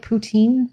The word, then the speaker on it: poutine: Poutine?